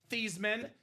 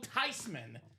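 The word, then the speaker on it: Theismann: His name is actually pronounced Tyman. It's a German name. The proper pronunciation is not theman. It's not Thyman. It's not Thyman. If you guys want to joke, it is Joe Tyman going home to the NFC East.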